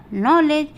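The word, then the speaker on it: knowledge: यहाँ पे देखिए के है, फिर एन है, एन के बाद ओ है, ओ वॉवेल है, तो इसलिए ये हो जाएगा नॉलेज। नॉलेज मीन्स ज्ञान, तो हमारा इसलिए ये के साइलेंट रहेगा।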